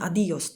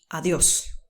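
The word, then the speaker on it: adiós: wyraz to bardzo często my polacy przekręcamy go mówimy adios to jest niepoprawna wersja tego słowa musimy powiedzieć adios na to jest akcent czyli adios to jest do widzenia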